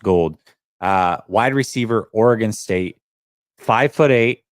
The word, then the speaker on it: Gould: Anthony Gould, spelled like gold, like Robbie Gould, but it's pronounced gold.